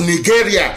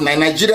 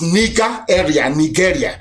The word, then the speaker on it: Nigeria: As long as Nigeria, that's the proper pronunciation, not Nigeria is the phone, Nigeria, it sounds a bit, okay. The proper name is Nigeria.